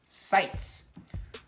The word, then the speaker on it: Seitz: Q&A by the way my last name is pronounced cites so Seitz thank